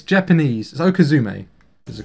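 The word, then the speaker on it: okizeme: to adapt and do a lot of like okazi strats okazi strats are when um okazi is based off of um it's Japanese okume is a correct pron pronunciation um I think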